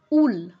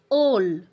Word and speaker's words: ওল: উল বললে হবে না সংস্কৃত যদি এই উচ্চারণটা হতো বা এই শব্দটা যদি সংস্কৃত কোন শব্দ হতো সেই ক্ষেত্রে আমাদের কি বলতে হতো ওল ঠিক আছে উল বললে এটা গ্রহণযোগ্য হবে না সংস্কৃতে ওল বলতে হবে এই শব্দটা আমাদের সংস্কৃত